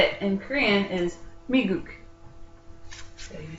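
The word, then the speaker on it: 미국: And how you say it in Korean is Miguk.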